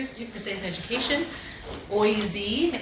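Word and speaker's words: OISE: So yes, the Ontario Institute for Studies in Education, OIZ is how we pronounce it for short.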